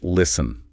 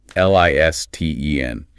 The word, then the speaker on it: listen: Your eyes see the letters. Your brain processes the visual input, and it just screams at your mouth to say listen, Anya. You really want to hit that hard consonant.